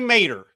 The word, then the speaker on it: Maderer: It's actually Maderer. Maderer. I know it looks like it's spelled wrong, but Maderer.